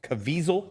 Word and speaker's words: Caviezel: Cazaviel? Yeah, Caviezel.